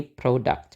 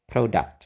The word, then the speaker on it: product: itu kan ada o-nya Jadi yang o-nya itu diberi tekanan jadi kita enggak pakai suwa lagi Jadi bukan produ bukan Tapi bacanya produ nah bedanya kalau yang tadi itu yang dua di atas itu yang EE Sebelumnya kan novel itu pakai a Terus yang contact itu pakai a juga kalau di sini product kita pakai eh O ya product gitu atau bisa juga sih pakai a sebetulnya ya jadi ee product ya product Oke Eh ya jadi pengucapannya